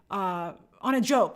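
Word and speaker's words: Anna Diop: But, they're drawing her that way, I think, after on a Diop, on a Jope, that's how you pronounce it.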